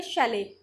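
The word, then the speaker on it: chalet: तो ये होता है शैले, इसकी प्रोनाउंसिएशन होती है शैले।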